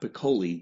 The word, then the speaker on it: Piccoli: I am Ron Collins, the general manager of the Yellow Springs Nine, and today I am here with Scott Piccoli. Did I pronounce that properly, Scott?